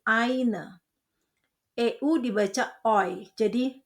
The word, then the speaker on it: eine: Ingat Aussprache yang sudah kita pelajari, ei dibaca ai jadi eine.